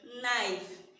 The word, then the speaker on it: knife: Knife. Did we sound this? No, we didn't. Because it is a silent letter.